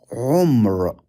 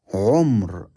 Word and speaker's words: عمر: This word is umr. عين ميم را. عمر.